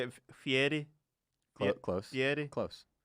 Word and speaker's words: Fieri: Fieri. Well, how do you say it? It's Guy Fieri. No, you're putting too much on it now. So the way I say it is Guy Fieri. Wrong.